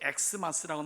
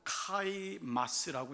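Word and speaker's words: Xmas: 그래서 우리가 X라고 쓰는 이유는 보통 이제 엑스마스라고 나와 있지만 이거는 영어가 아니라 헬라어이기 때문에 엑스마스라고 읽지 않고 카이마스라고 읽는 게 옳습니다.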